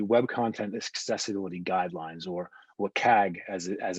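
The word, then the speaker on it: WCAG: point is the web content accessibility guidelines or what cag as as it's pronounced so the web content accessibility guidelines it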